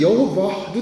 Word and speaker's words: 여호와: 요드 이게 다 자음이거든요. 그러니까 이게 읽을 때 여호와도 될 수 있고 야훼도 될 수 있단 말이에요. 근데 여호와로 읽었어요. 왜? 어차피 하나님의 이름은 발음하면 안 되니까 다 아도나이라고 바꿔서 읽다 보니까 하나님의 이름이 갑자기 잊어버려진 거야. 도대체 어떤 이름인지 몰라. 그래가지고 아도나이의 모음을 가져다가 히브리 자음에 붙여가지고 여호와라는 게 탄생이 됐어요.